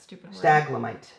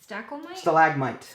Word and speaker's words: stalagmite: so one and two staglamite staglomite stalagmite we're adding 300 syllables to the word stalagamite stalagamites all right so stalagmite I think that's it